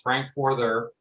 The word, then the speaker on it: Frankforther: take a look so my name is frankforther that's pronounced frank further i'm a retired electronic